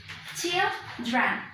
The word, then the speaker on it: children: Where is the stress? Well, the stress is on the first syllable, okay? So that is why the phonetic transcription, it's going to be like this. Children, okay?